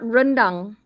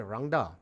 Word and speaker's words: Rangda: I called to tell you that you're pronouncing it wrong. It's not rendang. I didn't say rendang. I said Rangda.